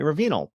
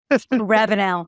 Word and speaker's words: Ravinal: courage and personal transformation Rosemary I'm afraid I may have mispronounced your last name so Ravenel Rosemary Ravenel Rosemary and it rolls off the tongue so much better than than my uh my version so welcome uh both